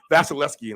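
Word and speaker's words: Vasilevskiy: uh vasil vasileski and vasileski is go in go vasileski yep he has that extra V in there that you usually do not pronounce that second V right there after the E and the S so try to get that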